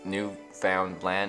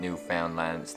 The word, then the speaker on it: Newfoundland: here what about finland how you say new found land is not newfoundlands newfoundland and when you say it like uh phonetically it sounds it's like new finland so that's where the